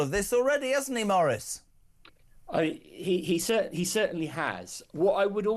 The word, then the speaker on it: Maurice: Maurice, it says here pronounced Maurice.